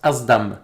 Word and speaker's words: SDAM: ce dame aux dames c'est un mot arabe qui venait de mon père justement et qui se prononce asdam asdhom ça veut dire marcher